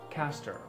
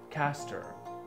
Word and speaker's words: castor: this word is pronounced as caster caster one of the small